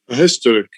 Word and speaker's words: historic: Historic. Yeah, but in British they say an historic event.